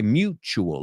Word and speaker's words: mutual: Vamos a pronunciar esa palabra porque yo sé en español es parecida, mutuo, but we say mutual. La U es you y la T es ch, mutual.